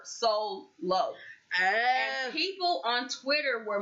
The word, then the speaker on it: Soullow: He went by the name Sullow, and it's spelled like soul, SOUL. And then LOW, one word, Sullow.